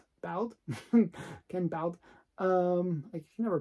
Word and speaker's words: Ken Bald: An artist that actually I enjoy a lot is Ken Ball. Ken Bald. I can never pronounce his name properly.